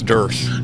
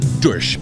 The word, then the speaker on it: Duersch: Oh, it's Duersch. Duersch.